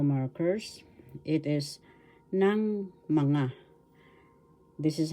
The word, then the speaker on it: ng mga: have two tagalog pananda o markers it is ng mga this is how is pronounced bigkas ng tagalog ng mga ng mga